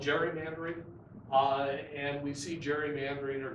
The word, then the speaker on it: gerrymandering: gary manner and outreach gary then becomes sort of a father of gary mandarin or as well let's call it gerrymandering and we see gerrymandering